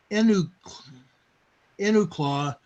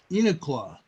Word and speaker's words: Enumclaw: away over here in I think they pronounce it Enuk enaw Washington we have a 1.86 Enumclaw inqua okay thank you Terri oh you're welcome I